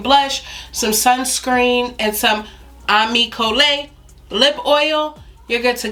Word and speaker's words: Ami Cole: Miss Jada, and Ami Cole is named after my mother, but 4 syllables, not Ami Cole. I've heard it all, but just Ami Cole.